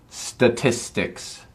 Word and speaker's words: statistics: do uh statistics dicks statistics statistics um that tis tis in the middle is the probably the toughest part so it's tis ticks make sure you get that middle part um statistics is this